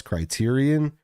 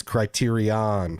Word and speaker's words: Criterion: for all those who point out that we mispronounce criteria Ian since they did not announce house party on their December schedule they did not keep their end of the bargain with me they didn't it's Criterion from now on Criterion Criterion Criterion The Day